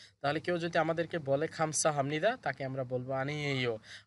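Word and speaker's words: 감사합니다: উনি বলতেছে দেখেন খামসা হামনিদা। খামসা হামনিদা, এখানেও এই বিউব বা সিমের পর নিউন আছে বিদায়, বিউবের উচ্চারণ ম হবে।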